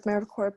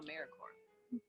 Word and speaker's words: AmeriCorps: to say or spell americorps sometimes people pronounce the people but don't make that mistake americorps is alive and well just spelled with a silent p so think of apple